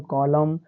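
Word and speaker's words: column: तो इसको पढ़ेंगे AUTUM आटम, फिर COLUM कॉलम, फिर DAM डैम।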